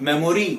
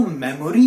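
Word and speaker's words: memory: क्या बोलते हैं फोन मेमोरी अब हम इसको मेमोरी ही तो बोलते हैं और टै्रक इसको मेमोरी मत बोलिए इस कर राइट प्रनंसीएशन है मैमरी विपक्ष के नेता मैं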